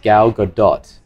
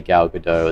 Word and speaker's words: Gal Gadot: should just add two that her name is pronounced gal gadot and really it throws apparently it throws me every time because i always want to say gal gadot as well because it sounds way cooler gal